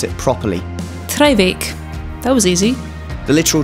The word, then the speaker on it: Traigh Bheag: This beach only has a Gaelic name, so here's Ruth to pronounce it properly. Treibeach.